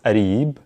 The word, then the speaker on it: قريب: The qa sound gets interpreted as an a, and sometimes a ga. So قريب becomes arib, arib is close, and then closer than أقرب من.